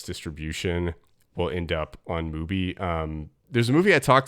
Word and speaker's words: Mubi: Yeah, Mubi it's like good Tubi.